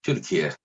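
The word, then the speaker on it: Türkiye: Like, the American pronunciation is Turkey, but I'm assuming it could be different, something like Turkey, or what is the exact pronunciation? It's Turkey. Turkey. That's how we call it. Turkey. Turkey, Yeah. Kiyye. Yeah, it's like T U with 2 points.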